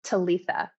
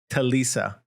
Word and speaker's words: Talica: Talitha. Talisa. Talitha. The C is a TH. Talita. Yeah. Oh, Yeah. wow. Talitha.